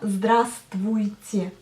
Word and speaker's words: здравствуйте: Si vous entendez bien, on prononce bien здравствуйте, c'est-à-dire que j'avale la lettre V. Enfin, j'avale, elle tombe. Mais il faut bien l'écrire dans l'écrit. Donc en fait, la lettre V tombe quand vous dites здравствуйте.